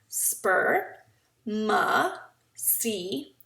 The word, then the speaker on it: spermaceti: You say it like this: spermaceti.